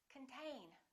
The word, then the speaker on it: contain: one is the same this o is reduced this syllable is stressed contain repeat contain let's look at